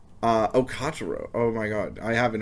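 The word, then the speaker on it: Katarou: Kataru? Kotaro. Oh my god. I haven't heard this pronounced probably since it aired, so I'm sorry.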